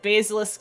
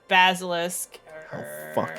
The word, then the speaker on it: basilisk: I said I said basilis instead of Basilisk dare